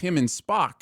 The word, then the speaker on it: Spock: Have that smarmy spark to them that this character just doesn't have. The character name is pronounced Spock, not Spark.